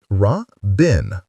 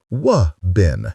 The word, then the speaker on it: Robin: to teach Robin Pomeroy how to say his name or any word beginning with R. He was repeating after Ruth, fiercely pronouncing every consonant but the impossible one. "Ra-bin," Ruth said. "Wa-bin," he insisted. "Wubbin."